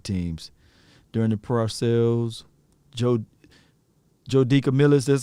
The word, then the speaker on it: DeCamillis: Joe DeCamillis, that's how you say his name?